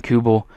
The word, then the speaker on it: Kubel: So I decided to do this trade, and it's for Jason Kubel, I believe how you say it, Kubel, like with a Q, for Brett Cecil and 2 prospects.